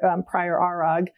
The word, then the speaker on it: ARAG: And I was so fortunate so the company that I worked with prior Arag is how you pronounce it. It's a good German name, was incredibly supportive of that.